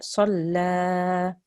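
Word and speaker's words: صَلَّى: Abadan idha salla. Once more. عبدا إذا صلى. Salla. Good. So the la is thin, but the sad is thick.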